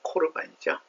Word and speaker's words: 코르반: 그래서 헬라어의 정확한 발음은 코르반이죠.